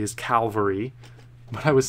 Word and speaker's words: Calvary: on it Oh Cowell Calvary Oh fall sticks Calvary not cavalry okay I'm sorry I kept saying that wrong Calvary did I write it for some reason I wrote it down correctly as Calvary but I was saying